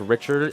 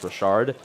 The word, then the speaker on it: Rashard: I think I may have said Richard in earlier in the stream. I apologize. It is pronounced Rashard.